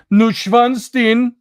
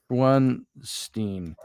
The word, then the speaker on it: Neuschwanstein: It's called Neuschwanstein. Here, look at it. I'll show you a picture. Let's see. It's spelled different. Neuschwanstein.